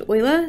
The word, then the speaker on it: Euler: So this is pronounced Euler.